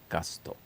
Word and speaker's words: Gusto: a family restaurant here in English it's called Cafe gusto in Japanese it's gaso gasto Cafe gasto and until from opening